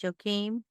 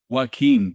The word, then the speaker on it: Joaquin: I can't pronounce his name, he's deceased now, but you know who I'm talking about, Joachim? Joaquin de Yeah, Posada.